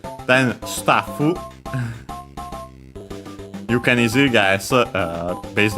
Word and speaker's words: スタッフ: The axe, notice the doubling of the consonant for the staffu. Unlike English, well, technically in English it's written with 2 Fs, but of course it's not pronounced as such. In Japanese, actually, it is.